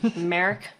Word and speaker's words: Merrick: write all this down merrick all right america it's like mark but it's just kind of